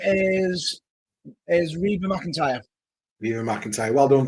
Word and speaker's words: Reba: Her name is Reba McEntire. Viva McEntire. Well done, Viva McEntire. Well, if I have mispronounced it, I will apologise.